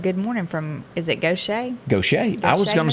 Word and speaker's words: Gautier: It's spelled like Gautier. Yeah. Isn't it? Yeah. But it's Gaucher, I guess.